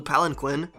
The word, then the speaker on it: palanquin: by the time we saw the fresh blue palanquin, Actually, it's pronounced Palanquin.